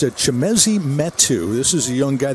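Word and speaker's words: Chimezie Metu: Chimezi Metu. You're good, you. You got a gift. I butchered the first edition, really, but you got that one right on the money.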